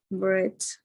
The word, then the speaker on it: breath: Yes, like an open E. In Spanish, breath. Thank you, teacher. Making the T sound at the end, because if it sounds like a D, you could be say pan, breath. And it's a common mistake while pronunciation.